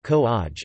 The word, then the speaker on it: Kovai: Coimbatore, also known as Kovai, pronounced Ko-aj, is a major city in the Indian state of Tamil Nadu.